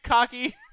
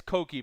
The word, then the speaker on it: Koki: I got you, Cocky. Shut the fuck up. That's actually really fucking good. Yeah, it's Cokie, by the way, not Cocky.